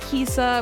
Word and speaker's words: Kisha: an A and then I thought that Kisha sounded weird so I said that the H was silent and it was Kisa which is weird because that's my name...